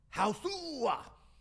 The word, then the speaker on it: Hausu: Hausu. That's what it's That's how it's spelled. Is that how you say it? Uh that's how it's said in in in Japanese. I think I'm pretty sure cuz it's spelled h a h a u s u. And I And during the the trailer it says Hausu.